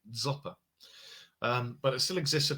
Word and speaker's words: Dzopa: The name has different spellings like Dzopper. Dzopper. I think that's how you say it, DZOPA, Zopa.